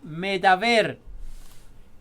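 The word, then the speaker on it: מדבר: Tenemos que en el hebreo moderno la palabra habló se pronuncia medaber.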